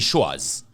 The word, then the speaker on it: Schwaz: You can also check DJ Shores. That's the name, right? Yes. The people who don't know how it's spelled, would you It's spell?